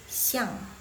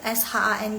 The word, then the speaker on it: shang: tengah yang tengah C ang itu bacanya Shang bukan siang Chau Shang s h a n g nice try Wah Kak